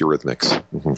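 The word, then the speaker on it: Eurhythmics: me if I'm pronouncing this wrong but it's Ur rithmic am I saying that right Ur rhythmics yes delro Ur rhythmics So could you explain to listeners what that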